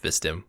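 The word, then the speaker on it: Vstim: Yeah, just put an I between the V and the S, and you've got his name, Vistim.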